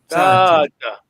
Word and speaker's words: tata: You don't write like this. This is just a phonetic spelling. You don't double A, just one A. But the way it sounds, I mean, your pronunciation, as we keep saying, Tata.